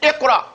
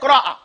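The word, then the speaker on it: اقرأ: Because in Arabic, they don't put two letters together, two consonants together, without having a vowel.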